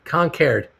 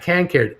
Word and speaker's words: Concord: live near a concord it's a funny new england pronunciation concave concared uh can cared uh bruce there was